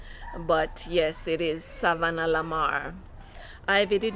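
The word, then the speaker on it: Savanna-la-Mar: school in savannah lamar yes it is savannah lamar not savlamar or saab as we say today nobody bothers to pronounce it correctly but yes it is savannah lamar ivy did not cherish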